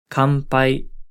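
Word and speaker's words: 乾杯: Kanpai, kanpai. In this case, the n is pronounced closer to an m sound.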